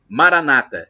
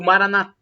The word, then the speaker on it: Maranatha: os protestantes ou evangélicos Maranata com a tônica na penúltima sílaba ou Maranata e com a tônica na última sílaba vai como dizemos nós católicos não importa somos todos